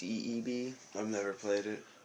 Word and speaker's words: Ib: That Ebe or Eb. Eb. It's actually pronounced Ebe, though. Okay. It's IB, but it's pronounced EEB.